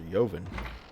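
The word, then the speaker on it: Yvon: Headmaster Yoven. Or it's just Headmaster Vaughn, and the Y is silent.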